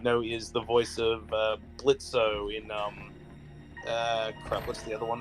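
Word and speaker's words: Blitzø: My name's Blitzo. Yes, the O is silent.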